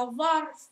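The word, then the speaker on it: ظرف: è la lettera va va lingua tra i denti e gutturale allo stesso tempo quindi due difficoltà vo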